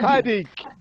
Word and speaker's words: Tzadik: Tzadik, Yeah. Tzadik, TS together. Tzadi. Tzadik, Tzadi. Okay.